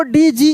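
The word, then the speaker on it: dodge: उसको लेजर ठीक है तो नियम क्या था कि डी जी के बाद ई आई या वाई आता है तब डी साइलेंट रहता है और केवल ज का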